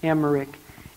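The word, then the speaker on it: Emmerich: David was an Catherine an Catherine Emer Emer is spelled e m m e r i c h an Catherine emerik an Catherine emerik lived in the late 1700s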